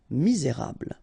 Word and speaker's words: misérable: You get this bl sound at the end. Okay, misé, et because you've got this accent aigu, rable. Misérable.